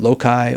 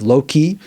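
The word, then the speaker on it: loci: So, just to reiterate, you want the memory palace or what is sometimes called the method of Loki or sometimes pronounced the method of low-key.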